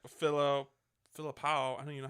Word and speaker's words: Philippou: Directed by Danny Filipino. Not Filipino. Wow. Danny Philippou.